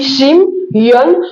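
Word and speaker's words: שמעון: Si nous prenons en hébreu Siméon qui se dit Shim yon, nous voyons la présence de deux syllabes Shim et Yon.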